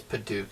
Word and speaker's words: Padauk: I think it's Padauk is how you say it.